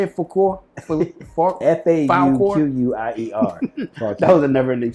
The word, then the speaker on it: Fauquier: I'm in Fauquier County.